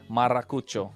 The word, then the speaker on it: Maracucho: It took some time, but hey, you're forgetting to roll the R, man. Hey, man, we warmed up to his... Maracucho.